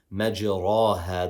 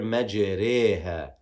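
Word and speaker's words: مجراها: We don't say majraha the way we should pronounce this word normally. We don't say majra. We say here majreha. Majreha wa mursaha. Majreha wa mursaha in our qira'ah.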